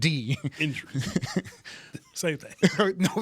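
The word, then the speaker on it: Endries: Yeah, not INJ. It is END. Indris.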